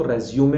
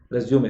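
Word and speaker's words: résumé: बोलते हैं, करिकुलम विटाई, तो उसको रेज्यूमे पढ़ा जाता है, रेज्यूमे। तो ये अंग्रेजी की खासियत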